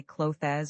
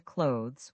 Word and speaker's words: clothes: This one is tricky because there's a th sound followed by an s sound which is difficult for many learners. Some people say clo as or clo is. The correct pronunciation is close to clothes where the th and s blend together. Say it with me. Clothes. It almost sounds like close with a slight z sound at the end.